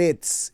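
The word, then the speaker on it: עץ: hebreo, se lo voy a deletrear, es el Etz. El Etz es el árbol. El Etz, E-T-S, así se escribe árbol en hebreo.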